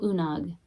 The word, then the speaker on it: Oonagh: About Unag. It's pronounced Una.